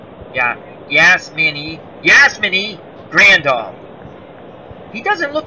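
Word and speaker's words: Yasmani: The new catcher is Yasami Grandal. Well, I butchered that name. Yeah, Yasmini Grandal.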